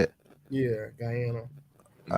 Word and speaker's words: Guyana: Guyana is that how you say it yeah Guyana all right well yeah look I mean this